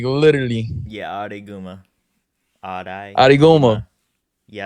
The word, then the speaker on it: Araiguma: How do you pronounce that? Like literally. Yeah, Araiguma.